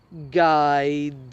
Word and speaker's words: guide: Now, there are other combinations of UI where the U isn't pronounced, but the I is pronounced as an I, such as guide.